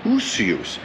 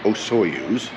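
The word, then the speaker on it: Osoyoos: how to say it it's called usus you do it with a u usus not ooous not like the so spacecraft so usus usus and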